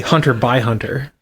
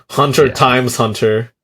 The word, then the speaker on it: Hunter x Hunter: But look, the X really is silent. Look, you can just It's not silent. This that would I would say Hunter by Hunter. Hunter times Hunter. The demo is pretty sick